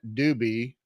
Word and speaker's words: Dubi: Her name is Karen Dubi. Not spelled the same as the Doobie Brothers, but sounds like the Doobie Brothers.